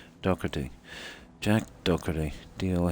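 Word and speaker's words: Doherty: his name yeah oh it's spelled normally d o h e r t y I think it might be prounce doy isn't it yeah i' I've heard it pronounced a lot of ways doy Jack doy do h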